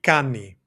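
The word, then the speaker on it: κάνει: So that would be cani. Cani spelled like this. Cani, like normal, right? Cani. We have that e sound at the end of the verb to refer back to he, she, it.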